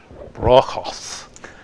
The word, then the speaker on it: Bruegel's: Now, Bruegel's Wedding Dance, that's kind of a Midwestern pronunciation of Bruegel, but actually Dutch Flemish, you would not pronounce the E and the U, so it'd be Bruegel's Wedding Dance.